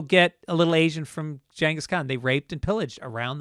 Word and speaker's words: Genghis Khan: Because it was either Genghis Khan, pronounced, by the way, Genghis Khan, even though people will fucking argue with me about that.